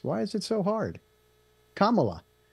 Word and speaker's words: Kamala: election stuff and everything are you excited about camela or camela yeah camela really you can't pronounce it either why is that so hard a name to pronounce why is it so hard Kamala like M but with a K mamala Kamala